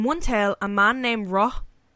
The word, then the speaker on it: Roth: In one tale, a man named Roth, R-O-T-H, Roth, was slain. Like Tyson pronouncing Ross from Friends. What? Roth, because he always like TH.